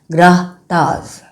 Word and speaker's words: grattage: That is how it is spelled and pronounced as grahtas or scraping.